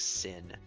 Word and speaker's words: Sin: I think it's, even though it's a Japanese name, I think it's still pronounced like Sin. Kisuke.